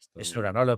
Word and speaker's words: Schnura: invitado de excepción, Esnura. No sé si lo estoy pronunciando bien o no sé cómo lo pronuncias tú. Está está bien. Esnura Esnura.